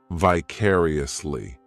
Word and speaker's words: vicariously: This adverb has 5 syllables, and the stress is on that second syllable, vicariously. The third syllable, it's like that letter I just has that E sound, and the fourth syllable has the schwa, vicariously.